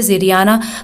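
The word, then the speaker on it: Xiriana: वैसे अलग अलग लैंग्वेज में अलग अलग तरह से इसे प्रोनाउंस करते हैं, इंग्लिश में इसे ज़िरियाना प्रोनाउंस करते हैं, तो ज़िरियाना लैंग्वेज ये बोलते हैं।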